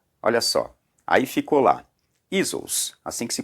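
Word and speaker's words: Ἰησοῦς: Olha só, aí ficou lá, Isos, assim que se pronuncia, né? Isos.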